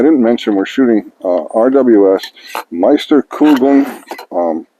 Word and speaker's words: Meisterkugeln: Well, I didn't mention we're shooting RWS Meisterkugeln. I believe that's the correct way to pronounce it. My friend Brian says it's right.